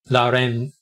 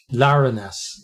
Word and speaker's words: Larenas: Lucas Carvalho, Jose Ignacio Larenes. I don't know why, but I can't pronounce his name properly. Larenas.